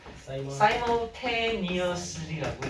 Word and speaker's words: simultaneously: 자, 어떻게 읽냐면요. 사이모. 전혀 다르죠. 시물 아니에요. 시뮬레이션 할 때 그런 사람 아예 없습니다. simultaneously라고 읽어요.